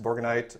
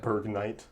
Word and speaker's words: Borgnine: Kurt Russell doesn't count, but Lee Van Cleef, Donald Pleasance, Ernest Borgnine, Isaac Hayes. Yep. Berg Knight. I said his name wrong.